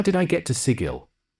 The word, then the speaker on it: sigil: did I get to sigil no no you say it like giggle did you know writing